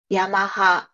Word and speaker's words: Yamaha: Yamaha. It's so like plain, like the pronunciation is like no ups and downs, like really flat, It's just I guess